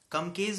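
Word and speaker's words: Klumpke: to the injury to brachial plexus is the come case paralysis the spelling says KL u MP ke posture of years but pronounced does come case paralysis and this is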